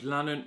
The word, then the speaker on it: Lannon: Hi there ladies and gentlemen, my name is Lannon, rhymes with Cannon, and this is the camera that started my video or love for video.